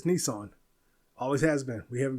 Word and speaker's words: Nissan: You're pronouncing it wrong. You always have been. Nissan, it's not Nissen. It's Nissan.